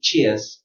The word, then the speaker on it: cheers: Or in British pronunciation, cheers, cheers.